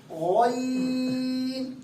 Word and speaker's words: غین: زبان کا حلق کا تیسرا حصہ جو ہے یہاں سے اس کی آواز پور ہوگی غین.